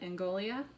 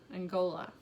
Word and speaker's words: Angola: the italian we have african so congo and angolia angola angola i looked up how to pronounce these i try not to push for